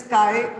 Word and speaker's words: chi: Mole fraction is represented by this letter chi. X की तरह लगता है, but otherwise it is chi pronounce करते हैं इसको, Greek letter है.